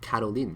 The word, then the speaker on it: Caroline: name was Carolyn and the way she pronounced her name was so beautiful her name was Caroline carolene right it was just so